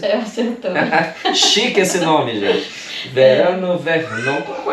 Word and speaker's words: Verano Vernon: mas que tem o nome artístico de Verano Vernon, não é isso? Acertei a pronúncia? Acertou. Chique esse nome, gente. Verano Vernon.